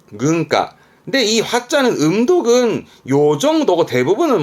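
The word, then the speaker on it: 軍靴: 세가 세가 군자 있던 거 그렇죠 이게 군함이 발음은 근가 근가 근데이 화자는 음독은요 정도고 대부분은 뭐 훈으로 보여집니다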